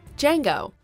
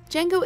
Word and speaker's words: Django: Number 4, Django. The D is silent. You've undoubtedly heard of Django Unchained, but only the